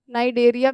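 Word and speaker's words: Cnidaria: है पहला पॉरिफेरा दूसरा नाइ डेरिया भी लिख सकते हो और सीलन टेरेटा लिख सकते हो ठीक है नाइजरिया सील रेटा तीसरा है टीनो फोरा नाइडिया साइलेंट ठीक है तीसरा टीनो फोरा चौथा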